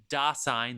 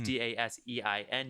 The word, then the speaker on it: Dasein: And the music that you hear is provided by the artist Dasein. That is Dasein.